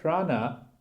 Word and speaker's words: prana: prana so proud now the Sanskrit term prana is made up of two syllables bra no but it means the